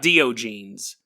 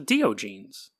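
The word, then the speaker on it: Diogenes: but but again I it spelled a do jeans and I'm a do like the rock band and then jeans it's it's very obvious but anyway so do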